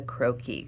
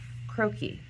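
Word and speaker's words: croquis: tracing paper over the skirt area of the croaki. Croaki is spelled C R O I'll write it here so you see it. C R O Q U I S croaki.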